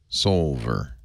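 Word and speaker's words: Soulver: That's spelled S-O-L. S-O-U-L-V-E-R. Like Sol. Yes. Solver.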